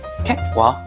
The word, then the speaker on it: Kakwa: 이 더스튼에서 나온 이 캣와, 이 캣와라는 거는 이게 KAKWA거든요. 이걸 어떻게 발음해야 되나 제가 공홈에 가서 동영상을 봤더니 캣와라고 읽더라고요. 저는 그 전에는 칵와인 줄 알았어요.